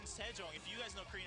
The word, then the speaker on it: Sejong: It says Yoonjong King, but Jong rhymes with King Sejong.